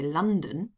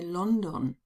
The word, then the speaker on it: London: Now, the idea came to me because sometimes students are surprised to hear that Germans don't say London, they say London.